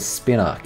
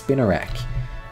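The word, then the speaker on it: Spinarak: I don't know why I've always called it Spin Arc. It's Spinnerak.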